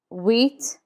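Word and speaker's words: huit: Eight is wheat. Wheat. The H is never pronounced in French. So we start with wheat.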